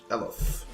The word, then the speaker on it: Eothas: There's the accent on the E. Idea and Eothas.